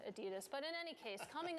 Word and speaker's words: Adidas: yeah and hence yeah the Germans pronounce it ADI dos here in America though I think we say Adidas but in any case